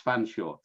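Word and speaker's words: Featherstonehaugh: called mrs vanshaw but her name was spelt featherstone huff but pronounce fanshawe so mrs fanshawe let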